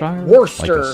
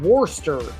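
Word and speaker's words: Worcester: There's a town in Boston called I think it's it's spelled Warester, but they call it Worster.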